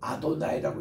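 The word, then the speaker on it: אֲדֹנָי: 그래서 우리는 이 이름을 남용하는 이게 있는데 그래서 우리 유대인들은 이거를 가리켜서 아도나이라고 읽어요.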